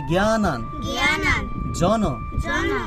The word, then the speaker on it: জ্ঞানাঞ্জন: আবার বলি জ্ঞানান জন। আচ্ছা, যুক্ত বর্ণটাকে ভাঙলে কিভাবে হবে? এই জ্ঞানান জন জ্ঞানান জন।